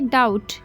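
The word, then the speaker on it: doubt: कि कहानी सच है डाउट में भी साइलेंट हो जाएगा तो हम बोलेंगे डाउट शक ही लिव इन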